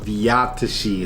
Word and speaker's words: V Zátiši: crazy but it's pronounced vtii it's like Slovak or Czech and it's a Czech